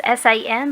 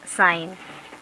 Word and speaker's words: sine: sign is abbreviated as s-i-n but we do not pronounce it as sin we pronounce as sine s-i-n-e that's any not